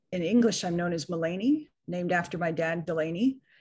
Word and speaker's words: Melanie: english i'm known as mullany named after my dad delaney and my mom melinda and they haffed it up spelled it like melanie but it is pronounced mullany and i'm here in